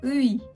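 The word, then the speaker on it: ㅢ: Cette voyelle composée, elle a une prononciation assez particulière. Donc vous, si vous le lisez en français, vous allez penser que c'est oui. Mais en fait, c'est pas oui, c'est EI.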